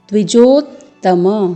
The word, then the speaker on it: द्विजोत्तम: पूर्ण वर्णन तो है तो इसका उच्चारण करते हुए आपको ध्यान देना है द्विजोत्तमो कि अस्माकं तु विशिष्टा